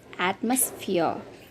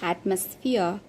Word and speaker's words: atmosphere: The next word is at, a short mus, atmosphere in American, and last R is silent, atmosphere in British.